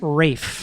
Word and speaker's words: Ralph: listening when it's right it's written Ralph but it's pronounced Rafe yeah so people it